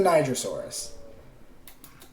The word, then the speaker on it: Nigersaurus: It's the Nigersaurus. That's what it is. It was found in that country, so they named it after the country.